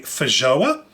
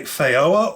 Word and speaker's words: feijoa: I've always known it as a feijoa. Some people pronounce it a feijoa or feijoa, depending on which part of the world you're from.